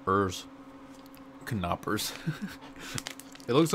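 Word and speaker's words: Knoppers: the same thing FY the K is not silent yeah it tells you right there how it's pronounced it's pronounced car not hers kanaa purse it looks like the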